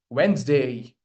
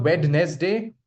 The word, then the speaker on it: Wednesday: Wednesday. Got it? It's not wed day. We drop this sound. We do not pronounce D over here. Okay. It's Wednesday.